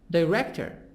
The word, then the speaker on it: director: This word director. How many parts in this word? Director. 1, direct, 2, director. 3 parts. So this word has 3 parts.